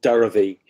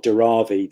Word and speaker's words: Dharavi: Yeah, there's a huge slum called Dharavi, or Dharavi. There's different ways of pronouncing it, which is an enormous slum of like about 2 million people.